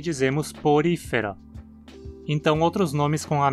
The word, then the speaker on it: Porifera: Novamente, a regra da penúltima sílaba justifica a pronúncia como uma proparoxítona.